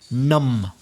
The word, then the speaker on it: numb: I'm not sure if I can pronounce the next word. Entumecido, entumecida, adormecido, insensible. Numb.